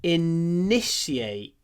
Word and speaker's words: initiate: one my husband never initiates conversation just be careful when you pronounce this word initiate inish in the I is clipped so yeah no initiate but the N is long initiate conversation initiate he